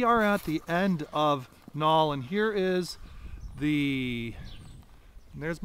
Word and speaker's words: Knaul: home today at 305 Nall Street that's spelled k-n-a-u-l Street in uh the